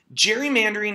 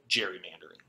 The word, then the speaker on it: gerrymandering: the name gary mander after governor elbridge gary which we then proceeded to mispronounce to the point that we now call it gerrymandering so strange shapes have